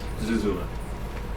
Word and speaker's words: Zuzula: like their last name is really cool though Zula that's how you pronounce it yeah didn't know that either dude